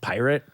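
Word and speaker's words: PYRT: the fire festival with it's p-y-r-t all caps again so it's not part he says it's pronounced pirate which that even with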